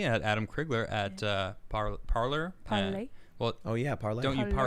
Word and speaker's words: Parler: Parlay.